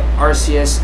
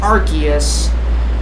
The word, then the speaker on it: Arceus: this right here yes I know that my pronunciation of Arceus is wrong and I know that it's official pronunciation is Arceus but I pronounced as Arceus because it just sounds better to me okay